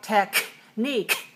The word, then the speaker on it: technique: the K sound but because they come at the end of the vowel after the vowel then we don't release like technique that would be too much technique technique just very slight